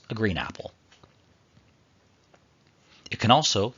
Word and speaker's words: ال: The definite article in Arabic is spelled Alif Lam and pronounced al.